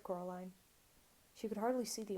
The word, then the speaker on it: Coraline: name wrong you know they kept seeing coraline not caroline not caroline at all he picked up